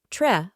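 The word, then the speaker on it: dred: or or human and Dread Wy spelling dread actual pronunciation Tre or t means bear so metr means bare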